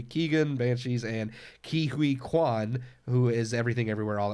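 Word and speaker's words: Quan: K-U Kwan. Ki Kwan.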